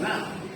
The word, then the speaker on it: now: guys because if you if you say no and you say now there is the difference we are used to to read it as if it in Spanish so if it in Spanish the pration would be know it is not know it is now this one e no